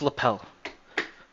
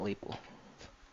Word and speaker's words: lapel: a suit lapel lapel it's lapel not label lapel my dad pronounces